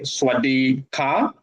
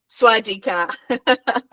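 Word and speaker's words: สวัสดีค่ะ: Being a girl, you need to say Swadika. Swadika.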